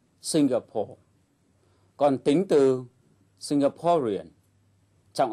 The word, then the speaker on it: Singapore: tính từ ví dụ danh từ Singapore trọng âm rơi vào âm tiết thứ nhất Singapore còn tính từ singaporean